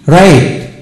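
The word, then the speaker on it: write: ডব্লিউ আর আই টি রাইট এখানে আর আই টি রাইট হবে ডব্লিউ এর উচ্চারণ হলো না যেমন ডব্লিউ আর এন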